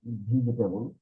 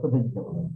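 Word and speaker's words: vegetable: বা কে কেউ বলে ভিজে কেটেবল ভিজে কেবল মানে টেবিল ভিজে গেল এরকম একটা কোথায় আসলে কিন্তু এটার উচ্চারণটা কি এটা আমরা সবসময় এরকম বলতে হবে ভেজিটেবল তাইতো এরকম বলি আমরা তো আপনি যদি আর হন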